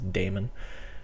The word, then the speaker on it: daemon: Some people call them demons, but I think the correct pronunciation is daemon.